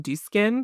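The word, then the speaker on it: Dieux: So, this is from Din. I've been told is it's just pronounced like do.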